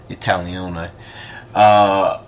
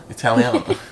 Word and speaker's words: Italiano: Yeah, I've been learning my Italione. Italione, yeah. I'm saying it wrong. Italiano.